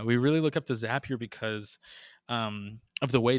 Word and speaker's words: Zapier: happier oh good one sappier makes you happier yeah we really look up to zapier because um of the